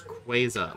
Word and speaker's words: Rayquaza: got Kyogre Groudon and Rayquaza SC spres for us I can't stand people who say it like that it's quaza like a quazar if you say so